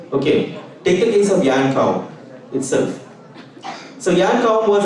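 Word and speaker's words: Jan Koum: It's Jan Kaum. It's pronounced as Yan Kaum.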